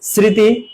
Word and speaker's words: স্মৃতি: বহ থাকবে স্মৃতি আর ম ফলা যদি শুরুতে থাকে তার কোন উচ্চারণ হয় না তো ম ফলা থাকলে